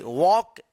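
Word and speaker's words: walk: डब्ल्यू ए एल के वॉक। वॉक यहां पे जो है ना एल साइलेंट रहेगा। एल का उच्चारण नहीं होता। इसको वॉक पढ़ेंगे।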